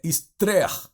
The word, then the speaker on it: Esther: E no livro de Esther, o nome de Esther é um nome persa.